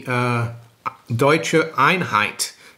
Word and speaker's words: Deutsche Einheit: But anyway, to my German viewers, I think there are a few out there, happy Deutsche Einheit. That's how they say it in Germany.